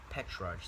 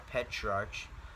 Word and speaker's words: Petrarch: all things the father of humanism was petrarch petrarch that's a weird name petrarch it's spelled p-e-t-r-a-r-c-h petrarch he was able to cause